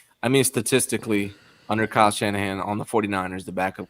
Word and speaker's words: Shanahan: Kyle Shanahan, yeah. Last name rhymes with banana hands.